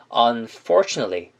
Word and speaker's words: unfortunately: 대표적으로 unfortunately 할 때 nately 부분 보이시죠? 이거를 약하게 발음하면 nately라고 발음을 하는 게 아니라 nilly라고 해가지고 편하게 발음해 주시면 되는 거예요. 그러면 이 단어를 어떻게 발음하는 게 좋을까요? unfortunately 이런 식으로 발음을 해주시면 되겠습니다.